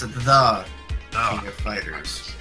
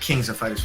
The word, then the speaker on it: The King of Fighters: oh okay well it it's supposed to be pronounced the King of Fighters not Kings of Fighters 14 I just [